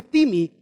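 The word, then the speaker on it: τιμή: Se escribe time, se escribe como la palabra time en inglés, pero se lee timi del griego al español.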